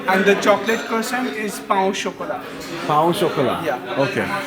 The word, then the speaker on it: pain au chocolat: Yeah, and the chocolate croissant is pain au chocolat.